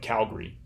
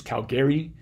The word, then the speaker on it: Calgary: Alberta or say BC Calgary is the two syllable pronunciation is from people who are Calgary natives and Calgary my pronunciation is from